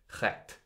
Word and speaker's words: Recht: So must also account for the term, like I'm going to pronounce this right, recht, R-E-C-H-T, that gave us the term right, recht.